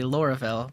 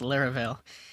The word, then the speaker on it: Laravel: trying PHP and laravale I was going to say Laurel but I think it's pronounced laravel um this is going